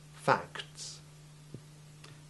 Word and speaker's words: facts: It's very easy to lose the T sound in act and fact, and to slur the plurals. Listen again to the correct pronunciations. Act, acts. Fact, facts.